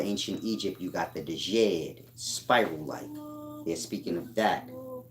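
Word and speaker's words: djed: egypt you got the dejade spiral-like they're speaking of that jay is silent the jed is just dead the dead that's beneath the sacrum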